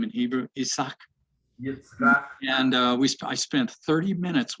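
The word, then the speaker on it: יצחק: Yitzchak.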